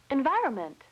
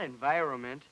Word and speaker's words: environment: Environment. You left out an N, not environment. The word is environment.